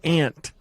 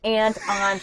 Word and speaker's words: Aunt: In Utah, we call it Ant. Oh, we don't discriminate. Aunt, we'll take it anyway.